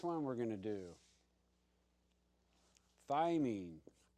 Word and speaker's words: thymine: we're going to do thymine thymine t h y mine you can call it mine if you want to